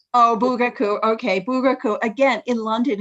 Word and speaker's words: Bugaku: This is him in Bugaku. Yes, am I saying it wrong? No, you said it right. Oh, Bugaku.